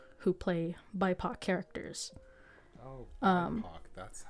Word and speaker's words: BIPOC: Oh, BIPOC, that's how it's said. Okay. Or BIPOC is also valid.